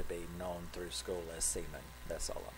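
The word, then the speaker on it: Simen: newt manga and simon they pronounce it semen which is unfortunate for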